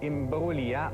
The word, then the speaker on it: Imbruglia: femme qui s'appelle Nathalie imbroglia on a prononce pas le G c'est pas une drôle de glia je sais pas pourquoi